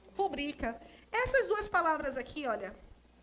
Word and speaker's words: rubrica: Se fosse uma proparoxítona, seria rúbrica. Mas a pronúncia não é rúbrica, a pronúncia é rubrica.